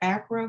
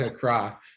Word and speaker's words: Accra: i know that um now is that acro ghana is that how you pronounce it a cry a croc from us